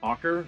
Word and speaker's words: Auker: special guest in studio today this is ocker right that's how you pronounce it hawker um musician extraordinaire neighbor